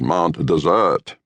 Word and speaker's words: Mount Desert: As decreed by the natives, one spells it Mount Desert, but the pronunciation is Mount Desert.